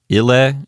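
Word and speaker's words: ille: Ile is a two-syllable word, so the accent automatically goes to the first syllable.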